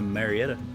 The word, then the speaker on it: Marietta: you doing I'm gonna marry it welcome to Marietta is how they say it around here so we got a